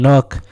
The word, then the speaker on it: Nook: Now that raccoon's name is Tom Nook, and it's not bad to say that his name rhymes with crook for a reason.